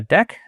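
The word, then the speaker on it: deque: So I'm going to create a a deck. I hear that's how you pronounce it even though it stands for double edited Q.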